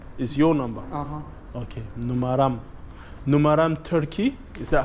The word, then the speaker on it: numaram: Numaram. Numaram. Numaram. Numaran is your number. Uh-huh. Okay. Numaram.